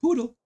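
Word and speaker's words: Pudel: And the poodle. That is pronounced exactly like the dog, the poodle. The poodle.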